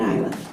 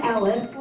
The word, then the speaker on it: Elif: We just heard from Carla Elif. I'm calling it Ilif. Sorry. Carla Elif, it is pronounced, and she is running for trustee candidate for Glen Carbon Library District.